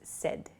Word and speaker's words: said: S S is not correct so please use said it sounds like s d the pronunciation uh but it's said s a i